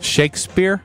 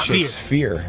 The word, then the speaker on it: Shakespeare: Shakespeare ding ding ding say it again how do you say it Shakespeare oh okay thought shakes fear yeah I did shakes fear who painted The sisting